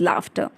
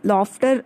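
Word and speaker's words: laughter: Tommy screamed with लाफ्टर. इसको आप लोग अक्सर बेटा लॉफ्टर आप लोग प्रोनाउंस करते हो, लेकिन इसका जो एग्जैक्ट प्रोनाउंसिएशन होता है वो होता है लाफ्टर.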